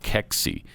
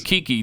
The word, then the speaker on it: keksi: a couple times okay so if you're thinking kiki no that's the chick that did the